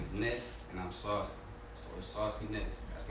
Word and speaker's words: Ness: bro and i'm saucy people really be saying my name like it's a word like happiness madness sauciness and sauciness good job and i'll be like bro my name is ness i appreciate the love